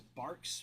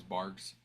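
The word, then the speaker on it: Barq's: I feel like Also, fun fact, I didn't know it was Barks with a Q until like last year. I thought it was always bars.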